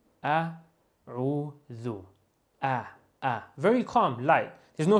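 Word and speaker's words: أعوذ: The dhal, dear brothers and sisters, is pronounced just as you almost pronounce the th in the English language. The. Calm, no stress at all. The. That's the sound. So we say a'udhu, calm, dhu.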